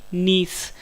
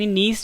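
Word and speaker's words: gneiss: है A option D नीस friends आपको English में वर्ड याद रखना है इसकी स्पेलिंग है जी अपनी आई डबल एस मुझे साइलेंट एंड नीस जो है जब ग्रेफाइट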